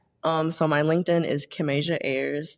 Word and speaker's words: Kimasia: Um, so my LinkedIn is Kim Asia. That's Kim and Asia put together like Kim like Kim and then the continent Asia put together a Y RS.